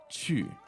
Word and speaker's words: 去: and the verb 去，去 All right, so that's Q-U, 4th tone, right? 对 Chu.